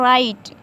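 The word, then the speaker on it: right: और राइट, देखें यहाँ पे जी एच से पहले वॉवेल आई आया हुआ है तो ये जी एच जो है हमारा क्या रहेगा साइलेंट रहेगा।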